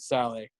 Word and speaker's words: Salah: 17-year-old kid from Egypt named Mohamed Saleh, or Salah, I believe, that's how you pronounce it.